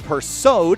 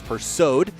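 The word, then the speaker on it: Persaud: cars to grid ryan persod in the number nine i want to apologize for mispronouncing that name it's pursued in the number nine car he'll roll off in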